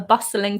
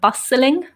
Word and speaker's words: bustling: packed and vibrant a bustling town and noticed for the pronunciation of that I don't really pronounce the T in the word bustling number three the castle